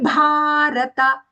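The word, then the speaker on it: भारत: Then the fourth charana, tato bhavati bharata. Tato bhavati bharata. Here both the bhas are mahaprana. In bhavati, the bha mahaprana and short. And when we say Bharata, long and Mahaprana.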